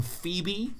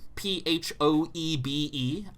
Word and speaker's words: Phoebe: In the same way that the name Phoebe, Phoebe, I read as phoeb. Phoeb. Yeah, that's the spelling of segue.